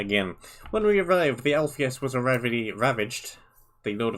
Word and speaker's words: Alpheus: When we arrived, the Alpheus was already ravaged.